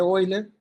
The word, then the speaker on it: Euler: Bueno aquí les puse oiler se pronuncia oiler porque es un nombre alemán Aquí está otra vez